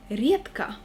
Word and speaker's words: редко: The next phrase is редко, но метко. Be very attentive with the word редко, because we pronounce the letter D as T.